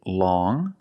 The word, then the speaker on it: long: has five different pronunciations first we see long with the sound which is a nasal sound long but then you have